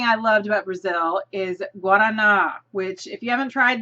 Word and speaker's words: Guaraná: The number one food thing I loved about Brazil is Guaraná, which if you haven't tried this is awesome stuff. I learned how to say it pretty quick because it tastes really good, and it's Guaraná Zero, which is sugar-free.